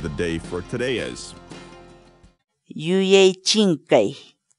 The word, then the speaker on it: yuyay chinkay: series videos where we teach you how to pronounce certain words in Quechua. So our word of the day for today is Yuechinkei. Yuechinkei. Yuechinkei.